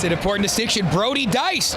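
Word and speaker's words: Deiss: know you were making a joke, but uh Dice is back out there. It's an important distinction. Brody Dice, d e i s s pronounced Dice, had a goal earlier and had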